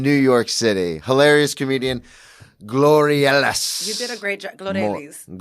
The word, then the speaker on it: Glorelys: No, pronounce it for everybody. Glorelys. Yeah, you're not gonna get it. No, but you did such a great job. You tried. At least you tried. Everybody be like Gloria.